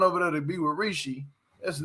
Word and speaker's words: Rishi: let me see how you say his name Rishi there you go that's his name Rishi so